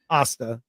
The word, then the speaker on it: Asta: I just love Asta.